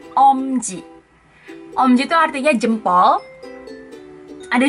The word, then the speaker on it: Umji: Tulisannya memang UMJI, tapi bukan Umji, tapi Omji.